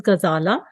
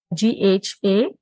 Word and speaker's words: Ghazala: I have a long name, which sometimes it is difficult to pronounce, but my first name is Ghazala, Ghazala.